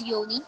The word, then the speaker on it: Yoni: So this is pronounced as Yoni. Why?